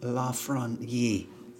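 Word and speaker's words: Lafrenière: this piece Planet Alexa La fron Yee that's how they say it in his native tongue cheddar Tyler to Foley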